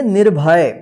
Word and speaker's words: निर्भय: फिर यहाँ पे य, तो इस रेफ की मात्रा का उच्चारण जो है ना नी के बाद होगा आधा र। ठीक है, इसको क्या पढ़ेंगे, निर्भय।